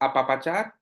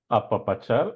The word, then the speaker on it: apapachar: to the next word Edson and this is apapachar yeah am I pronouncing it correctly apapachar apapachar that's that's perfect I mean you you sound